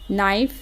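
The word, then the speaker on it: knife: इसको लर्न कर लें कि एन के जस्ट पहले के आ जाए ना तो उसको नहीं बोला जाता, तो के साइलेंट हो जाता है।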